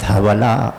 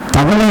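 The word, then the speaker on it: धवल: தவல் அது ஒரு பேர், அழகான பேர், அது நிறைய பேருக்கு உண்டு தவல். ஸோ தவளை இல்லை, அது தவளை இல்லை, தவல்.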